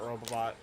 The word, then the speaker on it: Robobot: Because, like, in Planet Robobot, he, Just to let you know as well, I am pronouncing that correctly. There's an extra Yeah. BO.